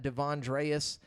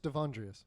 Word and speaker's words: D'Avondreas: do i say it it's just davondreas there's no like you like split the two d'avondreas yeah devandra okay